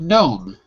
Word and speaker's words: gnome: on the second syllable now in the word gnome is the g sound yes in the word